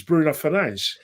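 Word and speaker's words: Bruno Fernandes: Like for instance, everyone sort of pushes back and says, "Why do you always say Bruno Fernanch?" Because Bruno, the guy himself pronounced his name is Bruno Fernanch.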